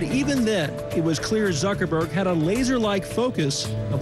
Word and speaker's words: Zuckerberg: they have it on tape sure it's Mark Zuckerberg founder and CEO how did the company start